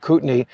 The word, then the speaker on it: Kootenai: That's what it looks like it's pronounced, but trust us, we researched this. It's called Kootenai.